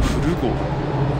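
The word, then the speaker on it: 古国府: 古国府と書いて古郷。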